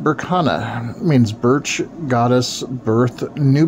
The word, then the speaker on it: Berkana: play with her food this room is pronounced Burana means Birch goddess birth